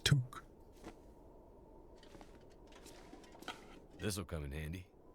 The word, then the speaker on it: toque: Pronounced toque.